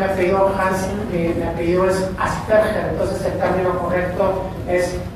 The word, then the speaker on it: Asperger: La pronunciación es Asperger, porque Hans Asperger era alemán, entonces la pronunciación no es Asperger, no es Aspi, no es nada, es Asperger.